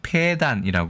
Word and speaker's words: 폐단: 현상 폐단을 폐해라고 얘기하죠 폐는 장음이 폐단이 발음하는 것이 옳겠다 두 번째 폐가 들어가는